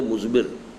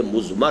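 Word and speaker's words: مضمر: ہے وہ مزمر ہے۔ عام طور پر جو ہے اس کو تلفظ ہم کر دیتے مزمر، اردو دان، لیکن یہ کہ اب آپ تو عربی دان ہو گئے نا، تو اس لیے آپ کو صحیح تلفظ کرنا چاہیے مزمر ہے۔ دوسرے حریت عمل ہے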